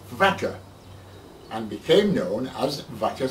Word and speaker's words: Waka: Waka in those days I would imagine that it was probably pronounced vaka and became known as